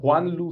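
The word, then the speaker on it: Juanlu: pronounce it better called Juan Lu Sanchez so it's like Juan and then like L after Juan L Sanchez so he was also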